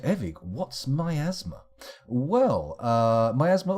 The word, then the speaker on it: miasma: Eric what's my asthma well my asthma or if you prefer to pronounce it that way miasma I hear people pronounce it that way occasionally is a purple cloud